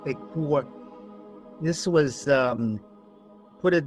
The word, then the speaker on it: Ekur: Joseph Farrell in his latest book, The Demon in the Eur is actually pronounced Ekur, this was um put it this way, the